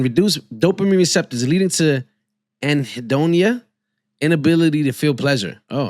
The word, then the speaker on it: anhedonia: I never heard of anhedonia. Is that how you say the word? Hold on. Is that how you say that word? Anhedonia. Anhedonia. Oh, I said it right.